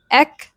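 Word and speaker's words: et cetera: Again, it is eetera. Eetera eetera. It's not etc. it's etc etc.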